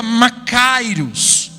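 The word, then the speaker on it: μακάριος: é traduzido por feliz no grego se pronuncia má cairos e macário significa muito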